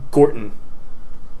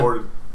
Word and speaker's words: Gorton: You say your own name wrong. Because it's so uncomfortable to say it right. Like Gorton.